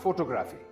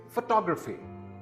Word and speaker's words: photography: This word is not photography. It is actually photography.